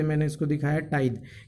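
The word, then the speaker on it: tithe: इसके बाद आ जाएगा स्टूडेंट, आप देख सकते हैं टाइथ, क्या प्रोनाउंसिएशन करेंगे हम इसको, टाइद।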